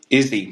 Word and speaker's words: Izzy: No, like Izzy, but it's so you have to say it like an Italian. In the U.S., they would call it, like in English, it would be like, but it's Izzy in with the Italian Oh, pronunciation.